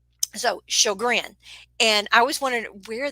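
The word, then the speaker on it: Sjögren: time remembering it because what i want i wanted to say so gor georgian or something like that but it's actually pronounced show grin and i went ahead and put shogrin there above the picture so that you would know how it is pronounced um so chaugrin and i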